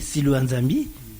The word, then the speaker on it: Silwa Nzambi: On va aller, Silwa Nzambi. Je crois que j'ai bien prononcé Silwa Nzambi. Très bien prononcé, Silwa Nzambi. Je suis un Congolais et c'est tout à fait normal que je prononce comme il se doit, Silwa Nzambi.